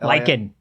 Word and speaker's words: lichen: Uh, so, uh, they claim that he slipped on some lichen. Is that how you pronounce that? Lyken. Lyken. Yeah.